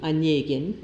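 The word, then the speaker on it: Онегин: his novel in verse Eugene anen pronounced y Anin in Russian as a deliberate provocation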